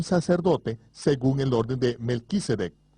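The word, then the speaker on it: מַלְכִּי־צֶדֶק: actuando como un sacerdote según el orden de melquisedec o como se debe pronunciar de málaga sadik el rey saudí justicia el orden sacerdotal del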